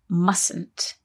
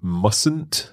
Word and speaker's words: mustn't: though when we say mustn't there is a silent letter in there isn't there that's right you see mustn't not must that's right